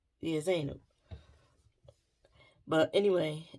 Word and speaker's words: Zainab: I want to say Zenib, and all those things. And I know I'm not saying it right. But I keep just going to Zanab, but I know it's not that.